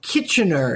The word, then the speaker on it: Kitchener: partly the impulse of Lord Kitchener is how we say his name okay Kitchener Kitchener kitchen uh uh uh who